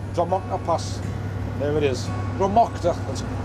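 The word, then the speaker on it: Drumochter: Dromocta, that's how it's pronounced.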